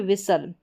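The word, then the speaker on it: whistle: सल टी भी साइलेंट है। ठीक है? अब यहां पर है विसल। क्या है? विसल और यह है हसल। अब इसको हस्टल या विस्टल इस तरीके से नहीं पढ़ेंगे।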